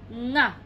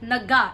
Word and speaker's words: nga: Nga. Nga. It's not naga. It's nga.